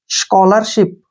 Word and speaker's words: scholarship: S का उच्चारण श करेंगे और CHO को हम को पढ़ते हैं यहाँ पे, ठीक है ना। CH का उच्चारण यहाँ कै होगा और O से ओ, स्को। LA का उच्चारण ले होगा और R से रे, अल्लर। SH का उच्चारण यहाँ श करेंगे और I को छोटी की मात्रा और P से पै। Ship, स्कॉलरशिप, स्कॉलरशिप। स्कॉलरशिप क्या होता है, छात्रवृत्ति, छात्रवृत्ति।